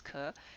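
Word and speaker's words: 可: This one is, in Japanese it's pronounced ka, in Chinese it's ke, and it means something that's possible, okay?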